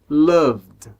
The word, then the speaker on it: loved: Por exemplo, a palavra love, no passado fica loved, loved. Então, nós não pronunciamos a letra E, ok? A gente pula o E, então a gente vai do som do V para o som do D.